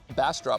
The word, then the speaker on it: Bastrop: Okay, so Bassrop, which it's spelled Bassrop, like B A S T R O P.